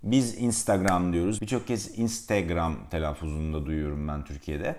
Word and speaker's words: Instagram: Instagram diyoruz birçok kez Instagram telefonunda Duyuyorum ben Türkiye'de İngilizce doğru telaffuzu Instagram Instagram Instagram Ya kanka dışarı çıktığında